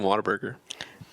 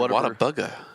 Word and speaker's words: Whataburger: In fairness, you said Whataburger. I think you're missing the R in Whataburger, and that's why you say it wrong.